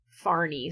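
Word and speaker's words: Fahrni: It is f a h r n i far. So it sounds almost like kind of a middle eastern or something name which she looks very Scandinavian.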